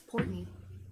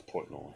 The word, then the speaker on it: Portnoy: I think it's Portney. No, it's Portnoy. I think it's Portney. No, I know who it is. Dave Portnoy. Oh really? Yeah. Dave It's Portnoy.